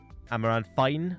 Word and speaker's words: Amaranthine: Amaranthine, not fine. I can't pronounce my THs against my Fs, but regardless, where were we?